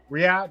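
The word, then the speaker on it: Riyadh: Uh, Riad. Riad. That's how you say it.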